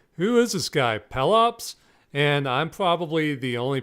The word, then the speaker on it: Pelops: except on my show I pronounced Pelops his name as Pele ops all the everytime I